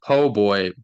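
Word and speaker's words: po' boy: a po booy po no you pronounce it PoBoy but it's spelled poor boy oh like the Pillsbury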